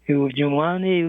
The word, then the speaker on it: Jermani: JERMANI, yes. JERMANI, yes, okay. You are blessed. Your last four letters, JERMANI, rhymes with Lee.